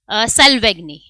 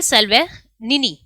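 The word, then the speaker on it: Salvagnini: जिनका नाम है डेविड सेल्वेगनी। ठीक है, डेविड सेल्वेनिनी, ठीक है, जी साइलेंट रहेगा यहाँ, डेविड सेल्वेनिनी, ये नासा ने अपॉइंट किए हैं first chief artificial intelligence officer.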